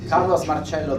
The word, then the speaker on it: Carlos Marcello: Am I pronouncing him? Carlos Marcello. Marcello.